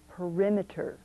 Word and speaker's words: perimeter: and meter a measure however when we break up this word in pronunciation we break it up and say perimeter the accent has changed our next word is